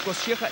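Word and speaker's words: Kościecha: Роберт Косчеха, именно так правильно произносится фамилия этого спортсмена.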